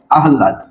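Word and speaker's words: আহ্লাদ: থাকার কারণে কি হবে ল এর উচ্চারণ আগে হবে আর হ এর উচ্চারণ পরে হবে হ এর উচ্চারণ কি হবে পরে হবে আহলাদ ঠিক আছে তো আমরা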